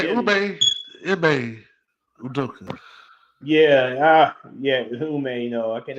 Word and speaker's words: Ime: Well, it was some rumblings, that I heard a couple of days around social media that Ume Udoka, he gonna try to go after Kevin Durant and Say Jimmy. Ime Udoka.